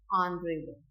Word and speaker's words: honorable: हमें क्या करना है, एच को साइलेंट रखना है. तो आर, ऑनेस्ट एंड ऑनरेबल.